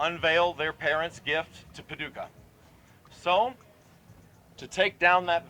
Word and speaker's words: Paducah: Pa Paducah, Paducah, if you want it, you can rhyme it with bazooka, but you can't poo-poo Paducah.